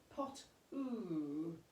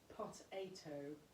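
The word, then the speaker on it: Pot8Os: He was very, very famous, and his name was Pot-oo, but it was actually pronounced Potato.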